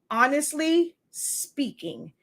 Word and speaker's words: Honestly SpINKing: so that's the name it's a play on words to have that ink part stand out but it is pronounced honestly speaking it honestly speaks for